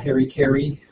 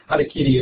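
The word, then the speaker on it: harakiri: I think a lot of you have heard of what Americans call Harry Kerry or usually adakitty would be better pronunciation.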